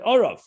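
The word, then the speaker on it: ערב: For example, the word erev can be read erev, it can be read orav.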